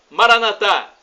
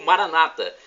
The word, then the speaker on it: Maranata: E do aramaico eu clamo, Maranatá, como dizemos nós católicos, ou Maranata, com a pronúncia dos evangélicos ou protestantes. Não importa a pronúncia, nós somos todos irmãos e o significado é o mesmo.